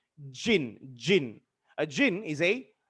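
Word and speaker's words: djinn: a talk about a jinn right what's a gin exactly spelled with a d but pronounced jin jin a jinn is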